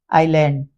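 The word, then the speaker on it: island: एल के बीच में लिखा हो तो एस साइलेंट हो जाता है आईलैंड ये आई और एल के बीच में होने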